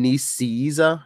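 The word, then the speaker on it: Nicieza: this week though ah Fabian nice Caesar is how you pronounce it yeah I mean I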